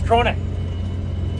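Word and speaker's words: Krone: It's crone is how they pronounce it, because I asked them.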